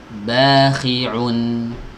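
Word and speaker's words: بَاخِعٌ: Jangan dari hidung, jangan tapi au. Bakhi'un. Aun, bukan on. Ya. Bukan juga ngeden ya, ada yang kadang tuh ngeden yang mengucapkan ain. Aun, nggak ada ngeden ya.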